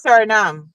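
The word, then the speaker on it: Suriname: That's Sernam or or Dutch Guyana.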